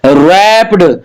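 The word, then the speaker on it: wrapped: he gave him अ रैप्ड gift box यहां W silent है my mother brought a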